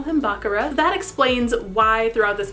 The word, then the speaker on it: Bakura: this evil chaos gremlin bakura from yugioh note i'm going to pronounce his name bakaram it's different from the way that it's pronounced in the english dub they usually call him bakura but in the japanese